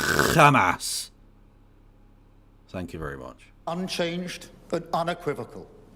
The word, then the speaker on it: Hamas: You're supposed to pronounce it Hamas.